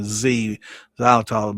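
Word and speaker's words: xylitol: And it's spelled with an X instead of a Z. It sounds like I'm saying Zylitol, but it's X Y L I T O L for those when I kind of look it up.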